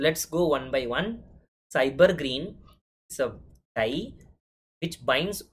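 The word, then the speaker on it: SYBR Green: Cyber green. So we pronounce this as cyber green. S-Y-B-R green, we pronounce cyber green.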